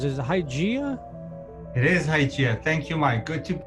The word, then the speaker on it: Hygieia: I'm not sure how it's pronounced. Is it Hygieia? It is Hygieia.